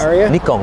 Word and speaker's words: Nikon: back into into photography I had a the Nikon oh you say it right too Nikon I'm Japanese Nikon that's the proper pronunciation it was Nikon uh what do you